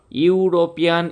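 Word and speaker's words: European: যে শব্দগুলো উচ্চারণ করতে হর্ষই হর্ষু চলে আসে বা ইউরোপিয়ান, ইউ উচ্চারণ হচ্ছে, এই ইউটাকে যদি আমরা বানান করে লিখি তাহলে ওয়াই ও ইউ হয়।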